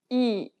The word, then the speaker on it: 이: The next vowel is 이. open your mouth as if you were trying to show your teeth and say the letter E. Say it like the E in meat, but shorter.